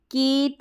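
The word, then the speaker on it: cat: अब इसको जैसे केट, रेट, बेट, मेट, डेट ऐसे पढ़ेंगे तो गलत उच्चारण हो जाएगा। कैट, रैट, बैट, मैट, that, इस तरीके से उच्चारण रहेगा AT एट फैमिली का।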